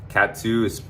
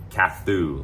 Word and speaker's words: Kathu: Cat 2 it's inland of Patong, 10 minutes east of Patong, and it's spelled like Kathu, like Kathu, yeah, Kathu.